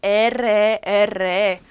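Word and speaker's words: erre: 자, 그 다음에 R 발음 나왔어요. 에레.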